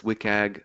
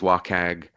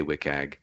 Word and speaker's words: WCAG: so um wcag often it it is often pronounced as wiag but you'll sometimes hear people say uh other things wag or wag um all of those are totally fine I say wiag um uh wiag was developed by the worldwide